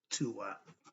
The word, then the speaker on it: Duat: about what is the DU it's spelled d u a t but the D is the T sound so it's really the Tua okay another lesson but